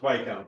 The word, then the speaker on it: viscount: count whatever some kind it's pronounced VI count it matters to me